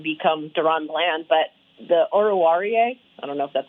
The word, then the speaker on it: Oruwariye: Oruwariye. Yes, that's the official pronunciation from the StoryLine.